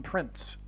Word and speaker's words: Prinze: And that's why this actor's name is Prinze, P-R-I-N-Z-E. I don't know how you pronounce it. It could even in fact be pronounced as Prince. I don't know. But it definitely rhymes with Prince nonetheless.